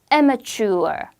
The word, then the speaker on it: amateur: 앞에 강하게 해서 amateur.